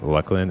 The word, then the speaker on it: Luclin: where he confirmed that the way to remember how to properly pronounce Luckland is to remember internal name for the expansion was clusters of fuckland.